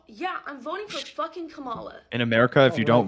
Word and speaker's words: Kamala: So, yeah, I'm voting for fucking Kamala. In America, if you don't vote, they kill you. It's pronounced Kamala, though. Oh, my God. It's pronounced Kamala.